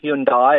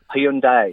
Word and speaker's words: Hyundai: It's drop the I, so it's not Hyundai. It's not Hyundai. It's Hyundai. Hyundai, why- like but there's why a do- Y on the end of it.